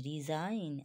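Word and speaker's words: resign: আই জি এন রেন রিজাইন আর ই এস আই এ জি এন রিজাইন ঠিক আছে এখানে এস এর জন্য জ এসছে ঠিক আছে রিজাইন সাইন এস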